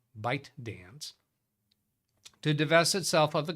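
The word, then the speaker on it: ByteDance: but no that's it bite dance I always I only ever heard it on a news article talking about by dance never heard them pronounce the T bite dance to devel itself of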